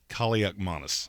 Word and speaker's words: Kaliakmanis: How do you say his name? Kaliakmanis. Yeah, there you go. Yes, It's the Christmas season. I got it on my mind. Yeah, Kaliakmanis.